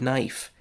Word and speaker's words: knife: The K at the beginning of knife, the A in the middle of read, or the E at the end of safe.